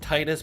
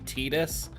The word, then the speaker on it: Tidus: I'd like to pronounce it Titus, but I do think it's canonically Tidus.